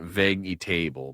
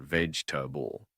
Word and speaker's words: vegetable: One, comfortable, not comfortable, but comfortable to a vegetable, not vague table, but vegetable.